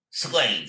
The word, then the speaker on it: Suede: Suede, yes, Suede. Suede, my You pronunciation.